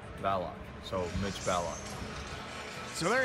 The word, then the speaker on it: Ballock: My last name is pronounced Ballock, not Ballick. It's like ballet and lock. Ballock.